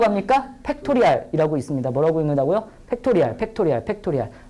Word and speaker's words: 팩토리얼: 팩토리알, 팩토리알, 팩토리알. 3팩토리 아니에요. 그건 공장이고. 알았죠? 3팩토리얼 이렇게 읽으시고요.